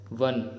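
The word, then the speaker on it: one: है वन की वजह से, क्योंकि वन का प्रोनाउंसिएशन क्या है, वन।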